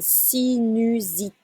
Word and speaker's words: sinusite: Avoir une sinusite. It's a Z sound.